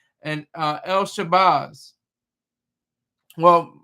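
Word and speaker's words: El-Shabazz: Malcolm X and uh El Shabbaz. Well, Malcolm Little, Detroit Red, Malcolm X, El Shabbaz. That's the proper way to say it.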